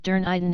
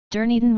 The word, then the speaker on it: Dunedin: the hotel, and went to the city of Dunedin instead of going to Stewart Island. Most people who go to Invercargill are just passing by to go to Stewart Island. Dunedin was a 19th century Scottish-style new town.